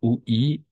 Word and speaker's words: oui: Toujours oui, puis, comme produit, comme puits, comme fruit. D'accord? On va prononcer oui. Toujours oui, comme puits, comme produit, comme fruit.